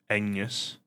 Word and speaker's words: Agnes: It's like um his wife's name is Agnes, but they pronounce it Anus because they don't pronounce it with a hard G.